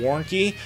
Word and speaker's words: Warncke: products calm or on Facebook my last name is spelled w AR in c ke Warren key and you can find me on Facebook you